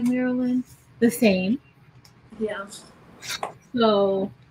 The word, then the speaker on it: Marilyn: Or with Marilyn. That's pronounces it. With three syllables, the way my mama meant it to be pronounced.